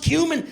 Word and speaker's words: cumin: "It's pronounced cumin, and now you'll never forget."